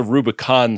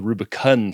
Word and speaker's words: Rubicun: We have discovered a planet in the It's not the Rubicon system, it's the Rubicun system.